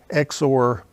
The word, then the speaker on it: XOR: circle plus symbol, and we would pronounce that A XOR B or A exclusive OR B. I, being lazy, am likely to pronounce it XOR because it has only 2 syllables when I do that.